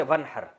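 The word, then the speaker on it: وَانْحَرْ: अरबी में नहर तो वन असल में था व इन हर पढ़ा जाता है मिला के वन हर तो अलिफ साइलेंट हो जाता है वन हर फसली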